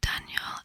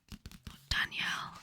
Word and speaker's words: Danielle: that is the bridge Kingdom which is by Daniel L Jensen Danielle I should probably pronounce it the bridge Kingdom so yeah if